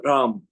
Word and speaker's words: Ram: Manipura chakra, it is Ram, R-A-M, Ram.